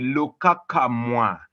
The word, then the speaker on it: Lukakamwa: I'm Lukakamwa, the name which has teased Marty, it has teased Chris for quite a long time, but well, that's how you pronounce it. It's called the Lukakamwa.